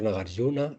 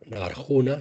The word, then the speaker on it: Nagarjuna: En el centro Nagaryuna de Valencia. Centro Nagaruna. Nagarjuna se escribe con J.